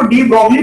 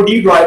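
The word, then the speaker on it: de Broglie: हम लोग तो इसको डी ब्रॉग्ली पढ़ते हैं, लेकिन ये चूंकि फ्रेंच नेम है इसको एक्चुअल जो उसकी प्रोनाउंसिएशन बनती है तो डी ब्रॉय बनती है।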